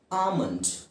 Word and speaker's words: almond: ಎಲ್ಲಿದೆ ಅಲ್ಲಿ ALMOND ಎಲ್ಲಿದೆ, ಆದರೆ ಎಲ್ ಉಚ್ಚಾರಣೆ ಮಾಡೋ ಅವಶ್ಯಕತೆ ಇಲ್ಲ. ಆಮಂಡ್ simple, ಆಮಂಡ್.